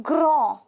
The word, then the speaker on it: grand: So here d is silent.